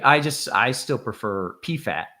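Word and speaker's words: Pfaadt: PFA a DT as fod rhyming with odd or God um but I think I just I still prefer P fat P fat so I'm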